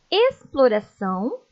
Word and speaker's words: exploração: som de s simples o x aparece antes da consoante Leiam comigo expedição exploração exposição e explorar com som de ss